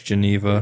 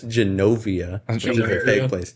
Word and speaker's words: Genovia: this movie geneva i've seen this movie it's geneva it's not geneva is a real place that's genovia caledonia estrovia med medal via but it's definitely